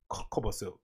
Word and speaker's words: Kobosil: How do you pronounce it? Kobosil or Kobosil? Kobosil.